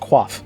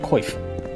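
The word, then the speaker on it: coif: what I'm talking about I only recently learned that uh C if F like the like a like a helmet sort of thing is pronounced qua like it's French weird I used to call it I used to say koif cuz it's spelled koif because yeah because qua comes from the French route yeah French in my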